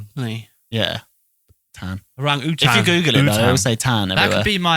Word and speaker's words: orangutan: and then I'll say orang-utan. everyone says orangutan, don't they? Though? Yeah, we was all brought up to say orangutan. But it's just 'cause wrong.